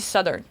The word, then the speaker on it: Southern: Techniquement, on dit Southern. Southern. T'es supposé faire avec le TH. Il est pas supposé être mentionné. Il est comme muet.